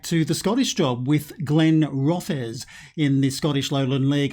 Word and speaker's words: Glenrothes: in uh in a message that i've been pronouncing the name incorrectly for uh would you believe 44 videos i've been calling them glenn roths i should have been saying glenn rothers so thank you very much brian harley for